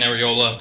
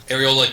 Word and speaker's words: Arriola: our good evening Council my name is areola I'm a councilman I said it right areola Council number from the